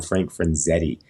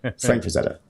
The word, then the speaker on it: Frazetta: I said Franzetta because I used to have this client that would always call him Frank Franzetti, and we would always be like, how are you getting it so wrong?